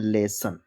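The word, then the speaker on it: lesson: Double S ओ एन लेसन आपने देखा कि लास्ट में ओ एन या ओ आर है लेकिन जो हम ओ को पढ़ते हैं वो छोटा आ से पढ़ते हैं। आपको इतना ध्यान रखना है।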